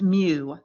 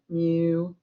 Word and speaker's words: mu: symbol means it's pronounced mu like a a cow with a speech impediment mu like that so it's pronounced mu long u there that's the greek letter